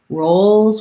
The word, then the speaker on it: roles: the tense oo sound rolls we have the oh diphthong so both of them are